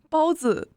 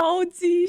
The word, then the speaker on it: 包子: Guys, I'll tell you how to correctly pronounce this. She's just trying to say bun. It's just 包子. 包子, right? 包子. Listen to hers. 包鸡。啊，太好 Baoji. She's saying bun chicken.